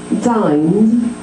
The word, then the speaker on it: dined: Dined is a D sound.